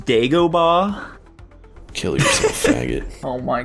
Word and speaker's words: Dagobah: Dagobah. Holy shit, he's goated. Or is he? Dylan? I agree. Nico. He mispronounced it. It's pronounced Dagobah.